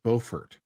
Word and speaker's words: Beaufort: some like for example there are two towns which are spelled exactly the same way but in North Carolina it's Beaufort in South Carolina it's